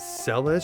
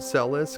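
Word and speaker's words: Celes: Now, it's possible that her name could be pronounced Cis, but I think that it's supposed to be more like Monica Celis the tennis player. So, that's what I'm going to go with.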